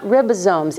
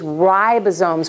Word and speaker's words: ribosomes: so proud of you it is not ribosomes it is ribosomes with a long eye okay and I know